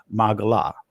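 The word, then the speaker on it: מגילה: And the Hebrew word for role is magala or magala, however you want to pronounce it, but in ancient Hebrew it would be magala.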